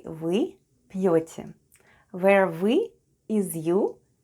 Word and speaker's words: вы: The first sound is v and then goes y. Try saying e while pushing the tongue to the back of your mouth.